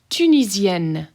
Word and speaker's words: Tunisienne: Tunisienne. Tunisienne. Double N's get hard, pronounced very hard.